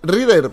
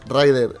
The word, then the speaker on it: Ryder: con Y pues a mí me sale decir Reader, pero es Rider. ¡Rider!